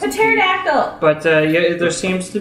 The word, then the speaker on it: pterodactyl: You don't pronounce A it. pterodactyl!